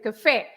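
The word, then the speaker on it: café: E that means that you should say Cafe you don't you don't say Cafe right you say Cafe you stress the last part yes yes and our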